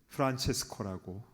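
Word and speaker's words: Francesco: 이테리어로는 프란체스커라고 발음하죠.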